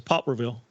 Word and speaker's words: Poplarville: accuracy in it but I think the real pronunciation is Poplarville yeah yeah for sure no doubt Poplarville yeah